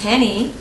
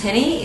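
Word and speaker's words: Jenny: Hans Henny. It's Hans, H-A-N-S. Yes, Henny is with J. Okay. Like Hans Henny, but with J.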